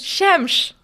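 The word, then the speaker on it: xemx: Shemsh.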